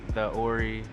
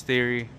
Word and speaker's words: Theori: even pronounce it right some people are like the Ori there's they think it's like two separate things but it's theory I was just thinking